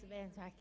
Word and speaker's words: Berenswig: And Sally Berenswig, please forgive me if I pronounce that wrong. It's Berenswig.